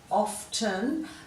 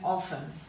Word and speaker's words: often: people are still saying that teen often but you will hear people also say often soften fasten hasten listen